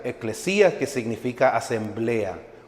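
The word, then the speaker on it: ἐκκλησία: palabra iglesia viene de la palabra griega que significa que se pronuncia eclesia que significa asemblea o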